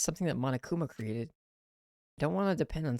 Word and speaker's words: Monokuma: our memories isn't it the british people say it like the way they say diva like fever they say mama coomer okay where did everyone